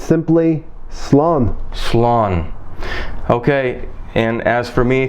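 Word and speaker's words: slán: goodbye in Irish well Stephen it's simply slump s'long okay and as for me thank you very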